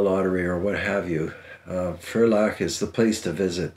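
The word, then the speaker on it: Ferlach: franzodia is one of those substantial names in Fair lock that's spelled f-e-r-l-a-c-h and if you ever come into some money or win a lottery or what have you furlock is the place to visit the guns they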